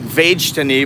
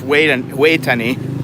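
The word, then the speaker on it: Vejthani: way to any hospital spelled with a v looks like vegeta knee but it's way way tani and this is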